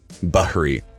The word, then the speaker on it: Bahri: And how do you pronounce your last name? Bahri. Bahri. Okay. I said Bahri. Bahri. Yeah, Is that works. okay? Absolutely. Yeah, I don't want to butcher the last name. That's Dude, okay. I've gotten Barry before.